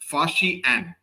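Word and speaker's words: Faxian: तो जो चाइनीस यात्री थे जिनका जिनका कि नाम था उसको प्रोनाउंस कैसे किया जाता है? फाशी एन।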